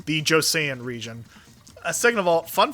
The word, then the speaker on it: Joseon: So, first of all, Laura, thank you for correcting me on the pronunciation. The Joseon region.